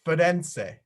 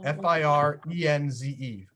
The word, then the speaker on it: Firenze: It's Firenze with an R, F-I-R-E-N-Z-E. Can you say that, Tutu? Firenze. I think she might be frozen. Did she get frozen? Eliana, can you say it? Florence. Firenze, yeah, F-I.